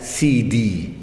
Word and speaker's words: Sayyidi: Siti jadi cara bacanya kalau laki-laki itu Ya Sayyidi dibaca CD kalau perempuan Siti Jadi sebenarnya